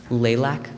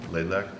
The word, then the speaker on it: Laylak: I'd like to make a resolution to accept Eagle Scout how do you say your last name? Lilac? Laylak, to accept the Eagle Scout project of Laylak for a pollinator garden in the Kent Center.